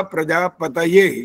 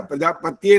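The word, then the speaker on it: प्रजापतये: जरूर है आपका प्रजापतय यह त जो था ना यह पूरा नहीं आया था वहां पर त जो था वह हलंत भी नहीं था प्रजापत्य नहीं था लेकिन प्रजापतय जो त का उच्चारण पूरा होना चाहिए यानी यू समझ ले कि अगर 100% बोलना होता है तो वो 75% बोला गया है इसलिए वो उसको गलती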